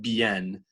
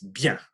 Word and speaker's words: bien: But really, when you look at how the word is formed, how it's structured in your mouth, it's really connected to the I, and it's one big syllable. It's hard to get that through our heads, but it's not bien, it's bien, if that makes any sense.